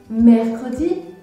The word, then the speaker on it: mercredi: Par exemple, vous devez comprendre pourquoi je prononce le E dans le mot mercredi, mais je ne prononce pas le E dans le mot samedi.